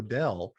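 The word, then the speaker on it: Knodel: sign is k-n-0-d-e-l because my last name is no nodell and it's spelled k-n-o-d-e-l so it used to be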